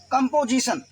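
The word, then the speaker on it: composition: अब देखिए TION को हमने बताया था, पढ़ेंगे TION को सन, क्लियर है। अब I को S से मिलाया, मैंने कहा था SI से जब S मिलेगा I, देखिए सन लिखा था, जन भी हो गया, सन भी हो गया, यहाँ पर G बोलेंगे, कंपोजिशन।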